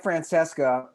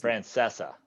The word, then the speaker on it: Francesa: there was it was mike francesca is it francesco a friend how do you pronounce this francesa francesa was claiming they're